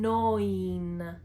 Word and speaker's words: neun: The combination of the vowels E and U make the sound oi, such as in neun.